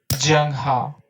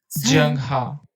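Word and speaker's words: Zheng He: I'm not lying about the pronunciation of his name junghwa junghwa kids look at it and they're like young ha hee Jing ha Jung ha or you'll hear people saying home junghwa yeah students think I'm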